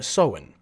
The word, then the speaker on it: Samhain: Halloween, the modern-day descendant of All Hallows Eve, or Samhain. I don't think that's that. That's true. That's how you pronounce it. That's pronounced Sam Hain. Nope. Look it up. It's Celtic.